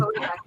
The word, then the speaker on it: Kodiak: look at kodak moment i always thought it was a kodiak moment kodiak i said it wrong for like pretty sure kodiak